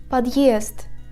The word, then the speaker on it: подъезд: The hard sign indicates the hardness of the consonant standing before this sign. For example, подъезд.